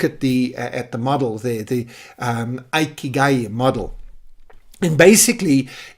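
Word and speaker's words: 生きがい: By the way, these four elements are actually put together in a Japanese concept which many Westerners pronounce Ikigai. I believe the correct Japanese pronunciation is Ikigai.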